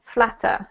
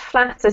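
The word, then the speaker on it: Flattr: I believe that it's pronounced flatter simply because it comes from the word to flatter in English.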